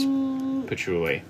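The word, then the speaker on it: Peachouli: That's pichuli, but it's spelled peachuli.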